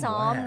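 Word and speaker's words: Psalm: the baby's name is some West yeah various local yeah the P is silent it's an it's some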